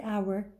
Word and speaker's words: hour: out grid one that the letter H in the word hour is silent when you read it remember that it doesn't make any sound let's start what is